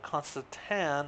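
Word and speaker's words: constantan: steel, 92 grams electrum, 92 constant tan. I said teen all the time, so I apologize for those that were like, oh my gosh, he's doing it again, saying it wrong.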